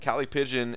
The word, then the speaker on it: callipygian: luck grind higher please Kali pigeon which I'm gonna say it like that alright okay how it's pronounced Kali pigeon adjectives having well shaped